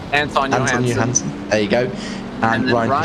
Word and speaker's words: Johansson: So we've only got 3 drivers without penalties, that being Jake Ansel, and Anthony Johansson, you say? Anton Johansson.